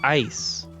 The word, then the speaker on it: Eis: his mind actually wait this is not ellis how do you say this eis east e-i-s e-i-s we're gonna look this up uh name germanic personal name iso from issa ice oh it's ice ice that's funny he's ice